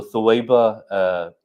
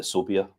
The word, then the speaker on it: Thuwaiba: Okay, so Thuwaiba, Indian Pakistani people, they pronounce it Sobia, but the Arabic is Thuwaiba, right?